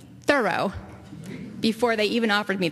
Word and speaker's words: Thoreau: they instructed me in the correct pronunciation of his name thorough before they even offered